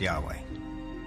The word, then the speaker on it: Yahweh: According to one account, Abraham knew God by his intimate personal name, conventionally pronounced Yahweh. Passages with the name Yahweh, which in German is spelled with a J, scholars refer to as J.